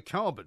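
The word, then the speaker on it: Karban: Yeah, carbon. No, I don't find that a coincidence because his name is spelled K-A-R-B-A-N and carbon is C-A-R-B-O-N. Yeah, but it's pronounced the same.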